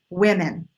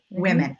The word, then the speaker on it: women: short I sound in short I sound sois women with women with women I hear people all the time doing like